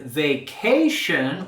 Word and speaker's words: vacation: on vacation in Spanish in the word vacation we have that sh sh sound vacation and here we're going to be raising our voice and intonation on that second syllable vacation vacation I need